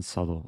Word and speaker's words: subtle: with your stalemate traps a being subtle oh that's a silent b uh i mean it